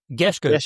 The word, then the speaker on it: Gerrans: Is Gerrans or Gerrans? Gerrans. Yeah. Gerrans. That's pretty accurate.